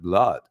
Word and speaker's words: blood: it blood and not blood BL well it's blood that's how we pronounce it like flood in in so and